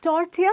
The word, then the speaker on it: tortilla: kind of meat ok so it's tortilla with the ll being silent up next we have